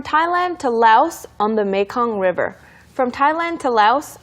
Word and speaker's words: Mekong: 그리고 메콩강이라고 하는 것도 이렇게 발음을 했군요. 메이콩처럼. Mekong. 메이콩 River. Sounds like 메주콩.